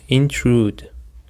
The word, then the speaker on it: intrude: Okay listeners, now let's go to the third word which is intrude. Intrude. The stress is on the second syllable.